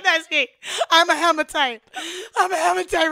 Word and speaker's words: hematite: All Hematite? Right. One more time? Hematite. Like, stomatite. Hematite.